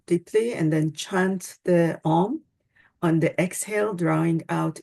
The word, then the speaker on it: Om: So the first one is the universal seed sound Om, which is to be pronounced as A-U-M or A-U-M. Om.